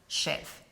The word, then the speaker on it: chèvre: So the end's that kind of Yeah. So that's why I say to stay safe, just say the first syllable. Let's just call it chèvre.